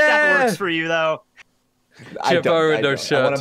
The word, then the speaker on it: jabot: It's spelled J-A-B-O-T, but it's a French word, so it's Jabot.